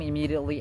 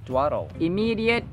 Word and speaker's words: immediate: dictionary cinto comes home immediately after school and doesn't dle immediate immediate immediate notice that the d is pronounced as d as in video radio but not in education graduation individual yada yada hasinto